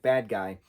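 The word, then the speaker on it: Badguy: And he's teaming up with Ricky Gervais's character, whose name is Dominic Bad Guy. But it's pronounced Bad G.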